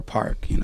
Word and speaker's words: Paak: So it became PAAK, PAAK, but it's pronounced PAAK. It's supposed to be the Korean way to pronounce it. Yeah, and or Park.